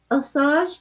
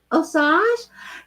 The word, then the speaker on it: Osage: Annie, my ancestry includes the is it Osage people of Missouri? Is it how you say it? Osage?